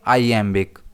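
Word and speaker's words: iambic: इसे हम प्रोनाउंस करेंगे आई एमबिक। और इसमें स्ट्रेस एई पर रहता है।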